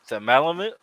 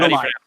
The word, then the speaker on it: Malumai: it's not Malamute. Nope. Go ahead. How do you Malumai. Malumai? Malumai. Malamai. Malumai. Okay. Malumai. The, Scott's been telling me wrong this all the time. I have. the stress is on the second syllable.